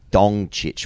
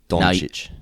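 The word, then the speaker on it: Dončić: Furthermore, Luka Doncic pronounced with a ch sound, not a k sound.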